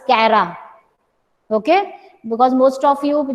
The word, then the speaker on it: Chara: So don't pronounce it as Chara, it is Cara.